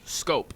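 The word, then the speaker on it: Schoop: It's shup, but it is pronounced scope. I've heard it pronounced four different ways though on the radio, on TV. No, I've I heard that scope is the real scope is the correct pronunciation.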